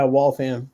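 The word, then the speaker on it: Waltham: friend Jonathan you'll appreciate from I think it's walam is that how you pronounce it in massachus yeah walam there you go W um move down here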